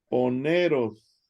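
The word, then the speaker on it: πονηρός: Ovepos, Poneros. poneros. Poneros, ¿verdad? Porque la B de Victoria es una N, ¿verdad? Ah, es cierto. Y Poneros. la N es una E. Poneros, Ujú, quiere decir malo o malvado.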